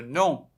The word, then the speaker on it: nom: groupe quel est le nom de ce groupe non mme adjani sts la prononciation correcte c'est le nom c'est nasale quel est le nom